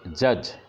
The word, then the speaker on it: judge: ही वॉज a great जज, JUDGE। अब यहाँ पर देखिए इस वर्ड में 5 अक्षर हैं, JUDGE, जिसमें D का उच्चारण नहीं करते हैं। जज, JUGE, D साइलेंट हो जाता है।